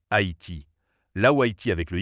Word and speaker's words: Haïti: En effet, la graphie Haïti correspond mieux aux règles du français, le tréma indiquant que le A et le I se prononcent distinctement Haïti, là où Haïti avec le Y pouvait prêter à confusion.